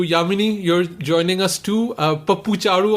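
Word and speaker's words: Pappu Chaaru: Pappu Charu on Twitter, right? That's how you pronounce it.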